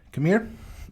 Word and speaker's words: Khmer: The language that is spoken there is Khmer. Yeah, that is spelled.